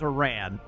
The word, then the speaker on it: Iran: Is Aaron how you pronounce Iran? No, it is it is Iran. This game is wrong.